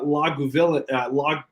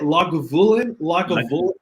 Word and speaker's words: Lagavulin: And what year is the Lagavulin? How do you say it? Lagavulin?